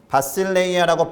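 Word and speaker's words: βασιλεία: 천국의 국자, 하나님 나라의 나라 의미로 사용된 원어는 바실레이아라고 발음하는 그리스어를 사용합니다.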